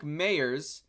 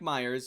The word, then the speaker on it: Mayers: it's not the finest we have Mike Mayers not Mike Myers I feel like this was a whole topic of debate in uh 2020 on how you pronounce his name the walks for nine